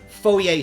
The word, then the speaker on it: Fourier: of what's going on and you know like fourier series i pronounced it right this time so yeah good